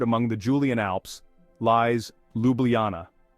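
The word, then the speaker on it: Ljubljana: the Julian Alps lies Luana now don't be intimidated by the pronunciation just think lublana and get ready to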